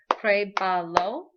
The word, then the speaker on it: pruébalo: So pruébalo. Prue, that first syllable, is your accented syllable. And notice the accents on the E because it's the last vowel in that syllable.